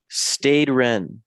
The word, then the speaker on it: Stade Rennes: But we move Conference League on Thursday against you know, Stade Rennes. That's how you Mm.